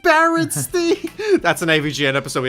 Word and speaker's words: Berenstain: But it's Berenstain. It's pronounced Berenstain.